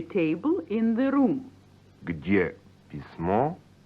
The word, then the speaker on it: письмо: Nouns ending in o and ye are neuter, like письмо, a letter, pronounced письмо, or café, a cafe.